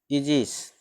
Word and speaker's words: aegis: जैसे देखिए, जैसे AEGIS, इजिस है ना, शब्द का उच्चारण ए ये है ना पहले, इसका उच्चारण क्या हो जाएगा, ए।